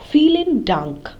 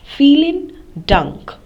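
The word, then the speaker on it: vielen Dank: thank you very much the v in feeling takes uh the pronunciation of f in English so the V takes the pronunciation has the sound of f so feeling dunk and um you know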